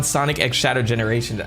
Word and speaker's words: Sonic X Shadow Generations: Sonic franchise now um I think he said it in an interview at one of these these uh these uh Outlets that the X needs to pronounce as X so I'm like okay